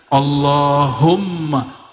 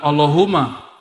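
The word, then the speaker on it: اللهم: situ ada mimnya Allahumma Gimana cara bacanya Allahumma bukan Allahuma allahum dia mesti ditasdidkan allahum ya dan dia harus idgham ya ada rahasia di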